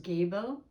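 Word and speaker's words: Gebo: So anyway, this particular letter in the runes is the letter G, and it represents the word, it's pronounced Gabo, and it's the rune number 7.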